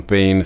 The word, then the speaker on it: Payne: cayó o se suicidó aclaro que el nombre de liam pain se pronuncia más que nada liam Pain escuché algunas personas diciendo